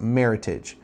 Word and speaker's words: Meritage: was uh picked and it's a combination of the words Merit and Heritage hence why it's called or it's pronounced Meritage um and then you'll